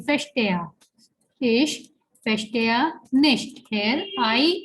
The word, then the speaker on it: verstehe: Here it is starting with V, but we know that the V has a sound of F in German, so we'll be saying verstehe.